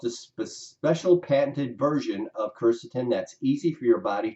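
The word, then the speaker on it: quercetin: so there's no confusion Kirsten is actually spelled qu e R CET is Kirsten that's always pronounced topic number two whether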